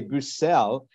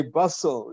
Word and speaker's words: Bussel: I must confess that you pronounce your name the French way brucell and I pronounce it the English way bustle you know this is